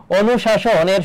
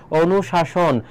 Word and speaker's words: অনুশাসন: সাতের হচ্ছে সঠিক উত্তর হবে খ আট বলো অনুশাসনের শুদ্ধ উচ্চারণ কোনটি হবে অনুশাসন অনুশাসনের শুদ্ধ উচ্চারণ কোনটি